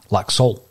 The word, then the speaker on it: Laxalt: on this podcast, and I believe that it's Laxalt with a silent T.